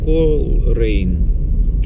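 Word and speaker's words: Coleraine: Вот, ребятки, город Колрейн. Пишется Колерайн.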